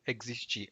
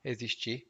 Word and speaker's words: existir: haver may also mean existir ou existir. I was pronouncing it differently. Existir is the right pronunciation, not existir.